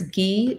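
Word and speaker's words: Gee's: know the platform that they deserve can you spell that sure it's ghee g-e-e apostrophe s and then bend b-e-n-d yeah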